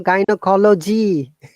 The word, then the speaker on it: gynecology: no, gynecology. Remember, all logi words should be G, but GY is Soft one.